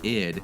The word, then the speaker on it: id: And when shortened to ID, pronounced ID, it represented one of the three parts of the human psyche, the unconscious energy that drives our needs and ambition.